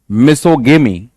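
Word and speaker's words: misogamy: यहां पे आप ग बोलते हो, मिसोगेमी, लेकिन जब आप ऊपर वाले शब्द की बात करें तो इसकी प्रोनाउंसिएशन कैसे हो जाती है?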